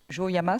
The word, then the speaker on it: Kujoyama: Vous êtes allé en résidence à la Villa Kujoyama, c'est comme ça qu'on prononce.